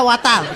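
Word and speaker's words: water: ওয়াটার না, এটা ওয়াটার। ওয়াটার। জি স্যার। জিব্বার আগে সামনের দুই দাঁতের সাথে লাগবে।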